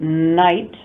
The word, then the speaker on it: night: The word night doesn't have a K at the beginning, but it's written with the K.